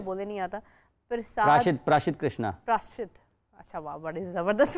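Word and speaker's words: Prasidh Krishna: ठीक से शुरू बोलने नहीं आता प्रसाद प्रशित प्रशित कृष्णा प्रशित अच्छा वाह बड़ी जबरदस्त प्रोनाउंस की प्र प्रशित कृष्णा इन्होंने तीन विकेट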